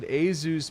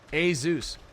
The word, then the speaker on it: Asus: I have been educated by the company themselves with a educational video to pronounce it as Asus products.